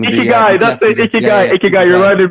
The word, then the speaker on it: Ikigai: Ikigai, is it? Ikigai, I think so. I might be pronouncing it wrong. Ikigai, that's it.